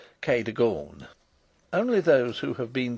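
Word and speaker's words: Cadogan: as it may appear my housekeeper was called Kagan a name made locally possible by being pronounced Kor only those who have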